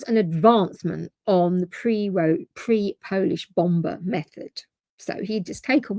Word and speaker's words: Bombe: the bomb. Yeah, you're allowed to say that? BOMBE. Yeah, so it ends with an E, so that's why I didn't know if the E was silent.